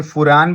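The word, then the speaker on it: furan: इसी तरह से फ्यूरेन, ये फ्यूरेन, ये भी क्या है जी, ये साइक्लिक ईथर है। इसी तरह से टेट्राहाइड्रोफ्यूरेन, इसे फुरान भी बोलते हैं, अलग अलग तरह से प्रोनाउंसिएशन है।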